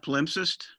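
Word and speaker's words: palimpsest: manuscript which is and i again have trouble pronouncing it a pal incest how do you pronounce that yeah polimpsist right which is basically a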